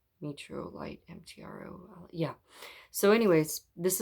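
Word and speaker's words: Mtorolite: metrolite met met metro meetro light you want to put an e in there at the beginning but there's no e um it's spelled m-t-r-o-l-i-t-e metro light m-t-r-o yeah so anyways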